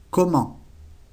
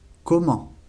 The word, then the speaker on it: comment: Cómo se dice comment. Comment. La última T no se pronuncia.